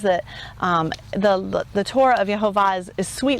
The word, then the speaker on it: Yehovah: Yehovah, that's how we say his name.